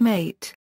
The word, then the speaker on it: mate: But, the Yerba Mate Association of the Americas states that it is always incorrect to accent the second syllable, since this creates confusion with an unrelated Spanish word for killing.